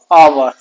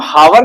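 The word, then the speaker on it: hour: Next example आप देखिएगा दोस्तों, आपका नेक्स्ट एग्जाम्पल मैं ले रहा हूँ, आपने पढ़ा होगा आवर। इसको हम हावर नहीं बोलते, आवर बोलते हैं, ठीक।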